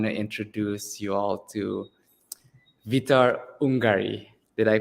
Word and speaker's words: Vitor Ungari: And I want to introduce you all to Vitor Ungari. Did I pronounce that correctly, Vitor?